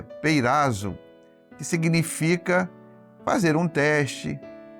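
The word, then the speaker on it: πειράζω: É bom lembrar que a palavra tentação, no grego, que é onde os evangelhos foram escritos, nessa linguagem, tem a palavra, a pronúncia é peirazo, que significa fazer um teste, uma experiência, colocar algo à prova para ver como se comporta.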